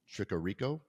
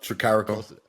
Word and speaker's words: Tricarico: Today's guest, Tricarico. Did I say it correctly? All right. Close enough. Tricarico.